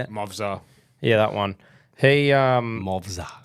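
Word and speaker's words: Movsar: Movzar.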